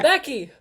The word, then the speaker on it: Beck: of a t no Becky Becks oh God I realized I called Becky Becky and it's supposed to be Beck Becky Beck Becky Beck